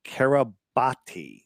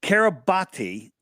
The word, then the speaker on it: Kiribati: Well, so it's Kiribati is the name. It's pronounced Kiribati. Oh, it's pronounced Kiribati. I hate that it's pronounced, but it's spelled Kiribati with a T, with a B, but Kiribati with a B.